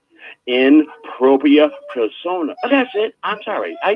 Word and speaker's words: in propria persona: back on no worries the correct pronunciation is in propria persona so we juries all rights reserved and no worries even just jr.